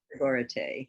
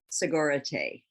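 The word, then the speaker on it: Sogorea Te: I hope I'm pronouncing that correctly. Sogoreate, yeah. Sorry? Sogoreate.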